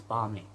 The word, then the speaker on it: balmy: I realize although there is an L, although the L is silent, and it's balmy.